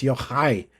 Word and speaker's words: Yochai: Yochai was, and I'm trying to say his name right because he's like, no, it's Yochai. You got to get the ch in there, you know.